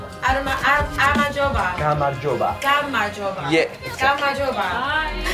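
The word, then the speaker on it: გამარჯობა: Gamarjoba. Amajoba.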